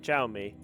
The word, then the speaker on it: Xiaomi: This guy pronounces it Xiaomi.